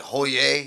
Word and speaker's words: Hollier: That dude I had yesterday, I said, "Is your last name pronounced Holier?" And he said, "Actually, I'm because he's from Louisiana." He said, "Actually, Holier? it's like Hoyer."